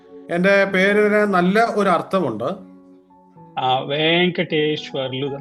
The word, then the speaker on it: Venkateshwarlu: Venkateshwarlu, that's how we pronounce in Telugu.